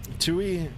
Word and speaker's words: TUI: By the way, Sky, TUI is just pronounced TUI and not T.